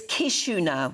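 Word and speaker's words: Chișinău: You've fallen at the first hurdle because it's not pronounced ch anything. It's Chisinau. I didn't know that. Chisinau.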